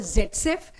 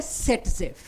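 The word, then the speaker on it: Saytzeff: वैसे मैं हमेशा बताती हूं। आपकी एनसीआरटी ने बता रखा है उनके नाम की स्पेलिंग एक्चुअली जेड सेफ शुरू होती है। जेडसेफ लेकिन हिंदुस्तान में इंग्लिश में उसको कर दिया गया है सेट जेफ। तो आप उसको सेट जेफ ही करेंगे। जेड सेफ नहीं करेंगे।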